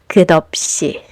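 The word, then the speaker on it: 커피: what happens is that the silent consonant borrows the sound of the previous final consonant. So instead of dissecting this word into three syllables by saying cop, you blend the sounds together and it becomes. So this Korean lyrics is pronounced as kopi.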